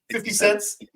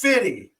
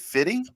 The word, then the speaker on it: 50 Cent: of the way that 50 cents. Yeah, just the way he pronounced it. Jimmy Kimmel said it 50 Cent. It's fitty. My wife looks over to me and she goes, "Isn't it fitty?"